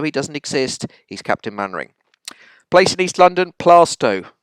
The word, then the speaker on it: Mainwaring: It's spelt Mainwaring, it's pronounced Mannering. It just is. Some people called Mainwaring do pronounce themselves Mainwaring, but he doesn't, even though he doesn't exist, he's Captain Mannering.